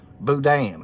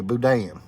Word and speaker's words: boudin: Dry Creek's trying to help me out on how to pronounce that. Boudin. Okay, Boudin.